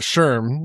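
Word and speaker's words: SHRM: got this, you know, you're speaking at Sherm like that's how I heard it. I'm probably saying it wrong but or No, that's right. I got it.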